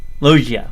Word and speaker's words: Loggia: I never know how to pronounce his last name. Loggia.